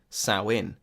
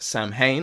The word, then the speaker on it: Samhain: a seasonal harvest festival sow in sow in which is spelled s a.m. Haan and which I believed was pronounced Samhain until I was informed otherwise was a feast practiced